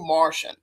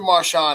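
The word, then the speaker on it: Marchand: to I believe is his name is Andrew Martian. Yeah, like Andrew Marshon, I should say his name.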